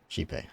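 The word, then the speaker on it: Xipe: Shipe. Okay, that's how they pronounce it.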